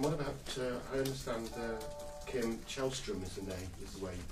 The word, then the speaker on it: Källström: And what about, I understand Kim Källström is the way you pronounce his name.